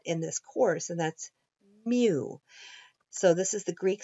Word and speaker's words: mu: Mu represents the mean of an entire population. It's a value that we're trying to understand, and it's unknown. And again, it's pronounced mu.